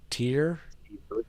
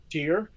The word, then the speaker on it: Tyr: going to talk about t y r how do you say that tier oh herpes wants me